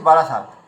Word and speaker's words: বারাসাত: যেমন দেখবেন, কলকাতাতে একটা জায়গার নাম আছে বারাসাত। তো আমরা বলি বারাসাত, তো বারাসাত বলছি, কিন্তু লেখা আছে তো দন্তস্ব আকার ত, কিন্তু আমরা বারাসাত বলছি।